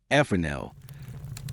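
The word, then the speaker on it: Fresnel: Then came a French physicist named Augustine Gene Fel, pronounced ephanel.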